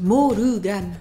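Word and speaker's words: モルガン: Donc la difficulté là, c'est le R. Pour le rendre japonais, on a dit Morugan, Morugan.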